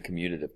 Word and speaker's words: commutative: Commutative, it sounds like the word commute.